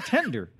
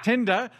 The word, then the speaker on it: Tinder: friends and I went on this app called tender and I decided I'd scope out I believe there it's pronounced Tinder and I'd scope out some local talent and